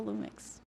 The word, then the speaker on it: Lumix: You got the Lumix. Yeah. Is that how you say it? Lumix.